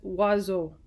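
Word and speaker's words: oiseaux: form of birds and the letters are sounded out as OS X and is pronounced as wazzle French like English is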